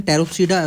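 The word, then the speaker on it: Pteropsida: तो अब ये देखो, स्पैनोप्सिडा, टेरोप्सिडा और सिलोप्सिडा में पी साइलेंट है, ठीक है। टेरोप्सिडा इसको कैसे बोलेंगे, टेरोप्सिडा, इसको सिलोप्सिडा। इसके एग्जांपल है इक्विसिटम। पहला देखो, स्पैनोप्सिडा, टेरोप्सिडा, सिलोप्सिडा, लिकोप्सिडा, ऐसे। ये पी साइलेंट है, इसीलिए इसको ऐसे हमने पढ़ना है।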